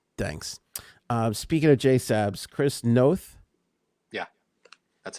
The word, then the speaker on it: Chris Noth: there that's fine thanks uh speaking of jsabs chris noth yeah that's how you say it is being